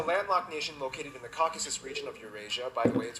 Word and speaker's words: Caucasus: Eurasia by the way it's pronounced Caucasus not caucus the Caucasus when a